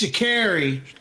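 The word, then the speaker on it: Sha'Carri: I'm gonna butcher this name. We need to say it right. Shikari. Shakari? Shikari Richardson. Or just Miss Richardson? No. It's Shakari. Shakari Richardson. That's what it says on Rolling Stone.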